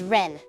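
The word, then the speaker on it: 恋: love shiitsu means lose the kanji for koi can also be pronounced as Ren if you get dumped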